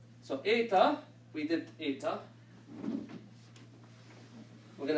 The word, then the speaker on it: eta: Eta looks like an H, looks like the English H, but it's always pronounced, roughly speaking, as the same as the epsilon.